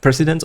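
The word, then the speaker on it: precedent: That transactional fee sheet is called the president pre president transactional analysis except it's spelled P R E C E D N T. Okay, that's the only difference. It's the president.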